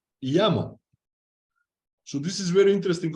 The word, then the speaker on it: Jamo: And these speakers, you said Jamo, are actually called Yamo.